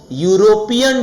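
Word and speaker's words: European: She went to यूरोपियन trip, यूरोपियन trip में य की साउंड आ रही है इसलिए ए आंसर होगा।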